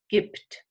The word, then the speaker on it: gibt: Now, when I ask one little thing here, the B is pronounced P, gibt, because the voiceless T follows and then this becomes devoiced, gibt.